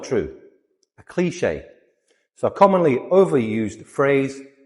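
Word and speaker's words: cliché: Cliche. Cliche. Two syllables.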